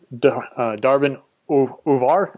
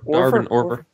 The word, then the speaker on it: Darbin Orver: We were highlighted on the Darbin Uvar. Is that how you say it? Darbin Uvar podcast. What is it? Orver. Darbin Orver.